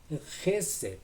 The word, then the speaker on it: חסד: Se pronuncia Gesed con una J muy fuerte.